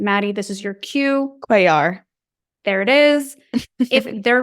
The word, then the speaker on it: Cuellar: Henry, can't pronounce his last name, Maddie, this is your cue. Cuellar.